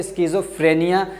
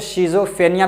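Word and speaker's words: schizophrenia: या बहुत सारे लोग उसको शिज़ोफ्रेनिया भी बोलते हैं, लेकिन असल जो का प्रोनाउंसिएशन है आप जैसे गूगल वगैरह पे देख पाएंगे तो वो क्या है? स्किज़ोफ्रेनिया। तो स्किज़ोफ्रेनिया क्या है?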